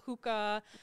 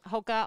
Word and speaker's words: Hoka: does it come from how do you pronounce it is not hookah um what what is it where'd it come from and um what's that all about yeah so um hoka one it actually means